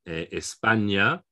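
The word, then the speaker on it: España: in ye as in espana for instance two words you might know spain and tomorrow so it's um it's pronounced like an ny essentially together yeah there's a few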